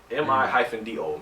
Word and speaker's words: Mido: M-I-D-O.